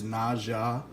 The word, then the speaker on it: Naja: I thought maybe the J would be silent. Dumb on my part. I've been corrected. I've had several people tell me it is Naja, so that's the way I'll be calling it throughout this video.